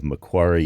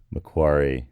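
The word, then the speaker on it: Macquarie: Dr Keegan Brewer of mcari University um in Sydney Australia mcari I I tried to get that right it's spelled in a way that I would not pronounce that way but I I I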